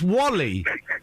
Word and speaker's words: WALL-E: Yeah, but it's pronounced Wally.